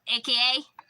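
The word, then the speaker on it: 赤: Like, some people, the symbol AKA. It's not in Japanese. It's spelled the same, it's saying AKA, but for their AKA, it's known as Aka, and that means red.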